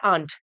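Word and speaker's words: aren't: टू the mall why आंट जैसे मैंने आपको पहले बताया इसको आप ये प्रोनाउंस करिए आंट क्या प्रोनाउंस करिए ये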